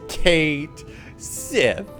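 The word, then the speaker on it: Cait Sith: The Final Fantasy VII Remake Twitter confirmed his name is Kate Sith.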